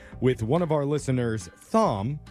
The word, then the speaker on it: Thom: We've got an interesting situation on our hands here with one of our listeners, Thom, spelled like Tom, but with an H in there.